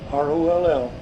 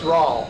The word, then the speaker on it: Roll: R-O-L-L. R-O-L-L. Okay. And don't call it Roll. No, it's Rawl. Rawl, Indiana.